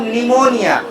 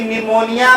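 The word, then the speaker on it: pneumonia: पता होना चाहिए कि निमोनिया में पी क्या होता है? साइलेंस होता है। यानी इसे केवल लिखा जाता है, पढ़ा नहीं जाता नहीं जाता है। जैसे सुनामी में टी साइलेंट होता है।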